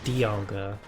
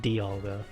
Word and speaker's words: Dialga: episodes they pronounce it dialga um and i would go off that pronunciation but then i realized that dialga just makes more sense because it's like diamond not demoned so dialga just makes